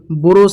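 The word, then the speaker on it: ب: আলিফ বা বাটিকে একটু টেনে পড়তে হবে এবং দুই ঠোটকে ঠোটের উপরে ঠোট রেখে আমাদেরকে বা অকটি বের করতে হবে।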